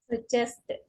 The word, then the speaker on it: suggested: Suggested. And this one, needed. Needed. Needed. For these two, para estas dos, you have to pronounce the E and the D. Suggested, needed.